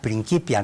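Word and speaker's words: Principia: me di cuenta que lo pronuncias como en alemán principio no principios porque es la capa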